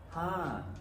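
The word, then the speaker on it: ห้า: The intonation for ha. Ha. You start from a high tone and come down.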